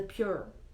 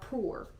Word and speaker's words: Pur: In the 12th year of King Xerxes, in the first month, the month of Nisan, they cast the pur, or poor. It's pronounced different ways.